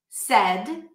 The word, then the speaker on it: said: Bed, red, head, said. I said something yesterday in class. Said, that's an S sound.